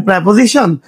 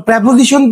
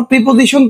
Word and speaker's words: preposition: প্রশ্ন আসতে পারে রাইট ফর্ম অফ ভার্বের প্রেপজিশন। আবার প্রেপোজিশন কেন? প্রিপজিশন কেন নয়? তো প্রথমত বলে নেই আমরা যে উচ্চারণটা করি প্রিপজিশন। Totally incorrect. এটার কারেক্ট প্রোনাউন্সিয়েশন হচ্ছে প্রেপোজিশন। আবার বলতেছি প্রেপোজিশন।